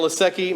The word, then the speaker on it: Lasecki: Is it Lasecki? Okay, I tried to add the extra I, sorry. Danielle Lasecki, Mason Miller, Richard Ullacode.